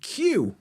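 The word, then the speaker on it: queue: wednes day and and Q which you know there's five letters in the word q q e u e we just pronounced one of them Q at the beginning so yeah silent letters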